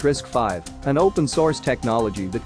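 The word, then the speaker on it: RISC-V: borders at issue is risk V pronounced risk 5 an open- Source technology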